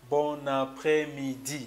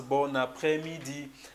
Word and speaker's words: bon après-midi: You have to pronounce it bon après-midi. So you make sure you connect this N and this A, so it sounds bon après-midi.